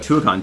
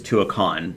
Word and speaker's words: Tuacahn: And to say, I believe it's Tuacahn. I know we have said it wrong, and people have scolded me about it. But yes, I think it's Tuacahn.